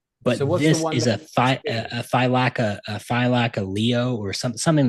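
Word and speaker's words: Thylacoleo: a thylacine, but a it's like pronounced like thylaceo or thylacaleo.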